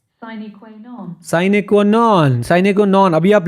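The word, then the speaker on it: sine qua non: साइने क्वा नन क्या होता है बेटा, ये क्या होता है?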